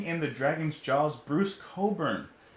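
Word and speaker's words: Cockburn: the dragon's jaws bruce coburn we've gotten some bruce cobra before and i mispronounced the name before but this time we're gonna we're gonna pronounce it right i love that album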